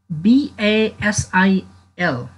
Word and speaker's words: basil: Either you say Basil or Basil. Holy Basil. Please pay attention in pronunciation. धेरै साथीहरूले यसलाई होली भन्नुहुन्छ, होली होइन यो. Holy, holy Basil or holy Basil. Both pronunciation are correct.